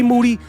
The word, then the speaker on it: Moody: D Tampa Bay Buccaneers G Moody last name rhymes with duty and the young shooter